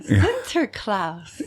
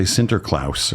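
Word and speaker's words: Sinterklaas: Oh yeah, center class. Yeah. Took me years to learn how to say it. But I hear all kinds of different pronunciations. Lots of people say centerlouse or center clause.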